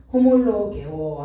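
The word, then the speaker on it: ὁμολογέω: 호몰로게오 한번 써드릴게요. 호몰로게오 증거하다, 찬양하다, 고백하다 라는 의미가 있습니다. 호몰로게오. 자, 5에서 이렇게 쉼표가 이렇게 뒤집어진 거, 이렇게 찍는 걸 읽으면 호 발음합니다. 호몰로게오인데 호, 로, 게오.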